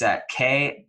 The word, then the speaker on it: Kseniya: I'm going to spell it for you just so you can get this right, because I wouldn't say it's spelled how it sounds, but it's Kseniya, Kseniya, and her last name is Kniaz as in zebra, EVA.